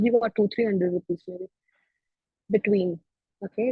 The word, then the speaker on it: Btwin: Between. Okay, it's called Between. It's pronounced.